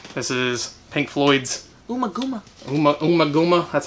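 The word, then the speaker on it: Ummagumma: Umaguma. That's how we pronounce it.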